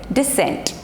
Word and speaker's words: descent: thought of clarifying this so whenever c comes with s like this they both come uh in a combination like s e s e s e so generally c is silent next letter is d